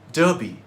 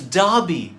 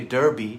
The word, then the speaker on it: Derby: You'd pronounce it Derby, correct? No! It's Derby. Of course, Americans do say Derby.